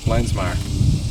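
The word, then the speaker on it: Lenzmeier: Lensmire. Okay. But spell it.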